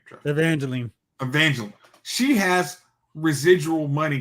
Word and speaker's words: Evangeline: I mean fun like when it comes to Angelina she she's got franchise residuals coming in you said Angelina you I said I mean Evangelina how do you actually say her name Evangeline Evangeline she has residual money coming in every